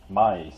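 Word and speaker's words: Mie: lightweight length you get what's called May scattering spell that m i e um which is actually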